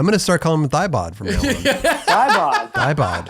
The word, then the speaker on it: Thiebaud: Oh, it's Thiebaud. Yeah. I don't know because I don't talk to him over the phone.